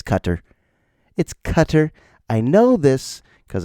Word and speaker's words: Qatar: Are you mispronouncing it? Just like everybody. It's Cutter.